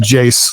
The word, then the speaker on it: Jas: I've been working on that, and it's just like, okay, come on, Jace, you need to, by the way, internet, my name is pronounced Jace like face.